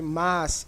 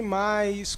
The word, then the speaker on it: mas: brasil ea pronúncia errada o que acontece a maioria das pessoas que sabe a diferença entre mace mais elas escrevem corretamente mas pronunciam errado pronunciam sempre mais com isso contribui para